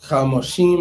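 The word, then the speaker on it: חמשים: All right, so Chamoshim is how they say it.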